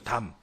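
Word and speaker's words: דם: 아우의 핏소리라고 할 때 히브리어로 이 핏소리라는 발음이 담이에요. 담.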